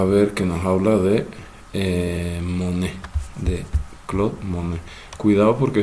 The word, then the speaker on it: Monet: En francés normalmente la última consonante no se pronuncia, no se dice Monet, sino Monet, Claude Monet.